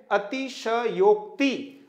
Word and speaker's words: अतिशयोक्ति: देते हैं जब तक यह शब्द का सही उच्चारण नहीं है मित्रों सही उच्चारण है अतिशयोक्ति आप देखेंगे इस शब्द